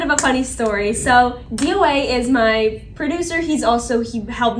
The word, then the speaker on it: DOA: DOA. DOA Derek DOA. Allen. Yes. He pronounces it like DOA. You have Yeah, to say it's like an DOA. acronym. DOA. Oh, DOA.